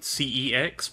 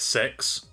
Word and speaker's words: CeX: but in the uk there is a store called cex well that's what i call it but i kid you not the actual commercials pronounce that as six oh my god i